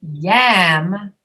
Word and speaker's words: yam: So that's why when you say yam, you have to really drop your jaw.